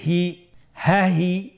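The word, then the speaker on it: ه: হা হরফটি হরকত দিয়ে কিভাবে উচ্চারণ করতে হয় স্ক্রিনের দিকে লক্ষ্য করুন এবং আমার সাথে বানান করে উচ্চারণ করুন। হা জবর হা, হা জের হি, হা হি, হা পেশ হু, হা হি হু, হা হি হু।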